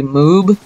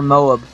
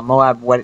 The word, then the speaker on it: MOAB: first of all everybody laughs at how I pronounce it um they say moob apparently moob or Moab but um I say Moab because that's what the commanders say they say uh Moab ready for your go or whatever so it's